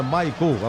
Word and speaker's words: Michael: cabeça raspada e tal, se escreve Michael, mas é Michael a pronúncia dele, Michael no lugar do Rafael Bilu.